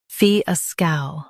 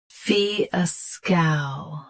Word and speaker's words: fiasco: Fiasco. Both US and UK have the same pronunciation of this word. Stress fee. Keep scow smooth, not sk. Fiasco. Fiasco. Stress fee. Keep scow smooth, not sk.